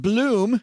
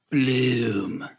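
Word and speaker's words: Blooom: With Bloom, I don't say it right. Say it, Len. Bloom.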